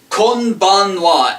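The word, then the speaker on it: こんばんは: And it's pronounced konbanwa. As you've noticed, kon is the same as konnichiwa, and we just add ban instead of nichi, and then the wa is the same.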